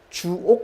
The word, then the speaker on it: 주옥: 다 주옥 같은 것들입니다 주옥 같은 겁니다 길게 발음하는 짧게 하지 마시고요 주옥 같은 거고 어 현행